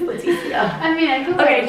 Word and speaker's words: Leticia: Oh, it's not Letty, it's Leticia.